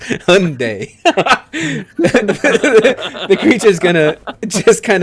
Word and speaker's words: Hyundai: It is, yeah, it's Hyundai.